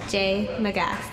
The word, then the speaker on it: J Magas: It's pronounced J. McGath.